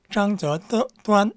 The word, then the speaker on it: 张择端: 우리는 이제 외래어할 때 사람 이름 할 때 특히 한국 사람, 아니 중국 사람, 일본 사람 이름 말할 때 그 나라 발음 그대로 해주죠. 시진핑 이렇게 합니다. 똑같습니다. 장저端 해야 돼요. 한국어로는 장택단이지만은 중국 사람들한테는 장저端 하면 다 알아듣습니다. 중국 송나라 때 북송 시기에 아주 궁중화가입니다.